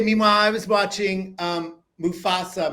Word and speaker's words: Mufasa: was gonna say meanwhile I was watching um Mufasa mustafaa I keep saying it wrong I cried I